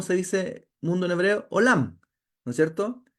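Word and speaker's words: עולם: todavía conmigo Cómo se dice mundo en hebreo olam No es cierto y Cómo se dice oculto en hebreo nadie sabe no me pillaste no no se dice me pillaste se dice elem mundo se dice olam y oculto se dice elem con las mismas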